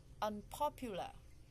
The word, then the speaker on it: unpopular: Unpopular, unpopular, the stress on the second one.